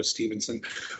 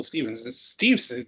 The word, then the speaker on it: Steveson: WWE signee Gable Steveson, I always have a hard time pronouncing that. I was going to go Stevenson, wins second consecutive NCAA wrestling title. WWE signee Gable Steveson, there I did it.